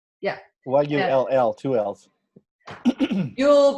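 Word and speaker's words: Yull: yeah y-u-l-l two l's yule brown it sounds like christmas it's not foo-poos with brown's gas and it's not you'll like christmas it's a name yield brown okay or hydroxy that's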